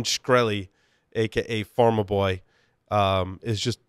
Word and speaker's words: Shkreli: the firewall guy so how do you pronounce this jackass his last name is it shkreli script shkreli script they called farmer boy that's way easier to pronounce but it's Martin shkreli aka farmer boy is